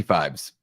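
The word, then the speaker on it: Phibes: Abominable Dr fees Dr I pronounced it fibes is it fibs or fibes I it's got to be fibes yep yeah I think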